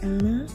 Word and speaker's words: Anna: You'll meet childhood Anna, pronounced Anna, rhymes with Donna.